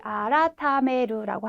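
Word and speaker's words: 改める: 우리 아라타메루라고 하는 네, 2번 단어를 발음을 골라주시면 되겠습니다.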